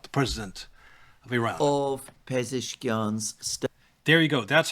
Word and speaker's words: Pezeshkian: of Pezeshkian's There you go.